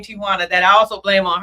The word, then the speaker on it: Ti'Juana: It's really pronounced Tijuana. Tijuana. If you're from the Spanish culture, but Americans say Tijuana.